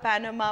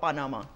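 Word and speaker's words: Panama: नजर आ रहे हैं, मगर लोग उसको प्रोनाउंस जैसे करते हैं, जैसे पैनामा और पानामा। या देखो, है तो पैनामा, ठीक है। आप उसको पनामा कहें, आप उसको पाना कहें, फ़र्क तो कोई नहीं पड़ता है ना सर।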